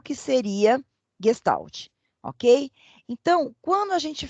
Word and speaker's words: Gestalt: Se escreve com G, Gestalt, mas ela se pronuncia Gestalt. Essa é a forma correta de se pronunciar esta palavra.